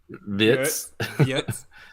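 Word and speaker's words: Wirtz: he's class super quick love the way the Germans say his name too they're like it's like it's so German then we say it's so America we're like wordss they're like Florian vs vits I will say I'm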